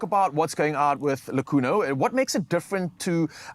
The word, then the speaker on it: Lakuno: Yes, three absolute queens here to share insights about the locally produced, in-house pet food brand, Lakuno. I got it correctly, is that how I pronounce it?